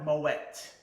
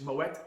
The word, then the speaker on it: Moët: So, Claude Moët, M-O-W-E-T-T. Write that down. Grab your pencils now and write that down. So you know, when you're speaking about the champagne, it's Moet Chandon.